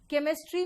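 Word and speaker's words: chemistry: फिर वापस आओ, यहां बताओ सी एच श दे रहा है, केमिस्ट्री में सी एच क देता है और चोपड़ा में सी एच च देता है ना?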